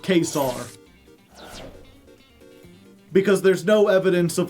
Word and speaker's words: Caesar: For example, Caesar was probably pronounced Kesar because there's no evidence